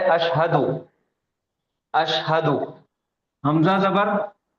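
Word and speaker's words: أشهد: तो ये एक लफ्ज हो जाएगा अशहदु। अशहदु, अशहदु। शीन का तलफ्फुज, इसका प्रोनाउंसिएशन सही होना, हा का भी और दाल का भी।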